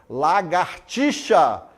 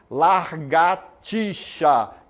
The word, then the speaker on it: lagartixa: Lagartixa em vez de largatixa.